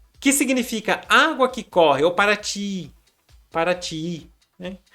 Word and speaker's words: Paraty: É como se fosse Paraty, que significa água que corre. Aí o linguista achou por bem utilizar o Y para representar essa pronúncia. O I longo, o I dobrado, esclarece uma técnica da